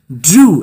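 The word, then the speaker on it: drew: ঠিক আছে, তো তার কোলে নিয়েছিল, অ্যান্ড এবং ড্রু, এটা উচ্চারণ হবে ড্রু আ লাইন, ড্রু আ লাইন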